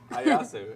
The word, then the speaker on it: Ieyasu: Ieyasu.